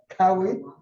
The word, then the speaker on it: Kauai: What the pronunciation was that? Cowie? Yeah, Kauai.